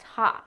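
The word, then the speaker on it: ห้า: five a lot because in Thai the number five is pronounced haot so they're really just laughing every tie at Birth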